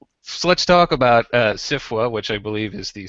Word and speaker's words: SFWA: policies I've learned that I should be pronouncing it as a word instead of as letters which is good because